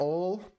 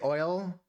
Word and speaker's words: oil: You would say it like ol. I say oil.